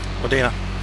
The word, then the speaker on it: Wudina: Wudina.